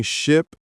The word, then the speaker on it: ship: For confusing ship and sheep, Ship has a short I sound, like in sit.